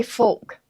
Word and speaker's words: folk: All right, this is, why do you say folk?